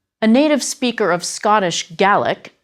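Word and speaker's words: Gaelic: A native speaker of Scottish Gallaic as the word is pronounced in Scotland.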